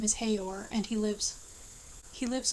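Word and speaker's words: Haigha: His name is Hayor. He pronounced it so as to rhyme with mayor.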